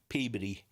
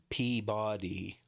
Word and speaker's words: Peabody: in a landfill in uh Peabody now when you guys see it on TV you probably pronounce it Peabody because it's p-e-a-b-o-d-y but it's to us as